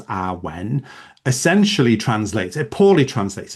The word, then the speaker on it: awen: and the meaning of awen consisting of two syllables awen essentially translates it poorly